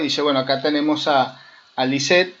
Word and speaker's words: Lissette: Lisette se escribe Lissette, Lisette. Siempre lo aclaro porque es un nombre que se escribe de diferente forma.